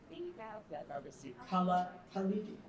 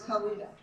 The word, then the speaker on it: Khalidi: We are honored to welcome Rasheed Kala Khali. No, it's Khaled.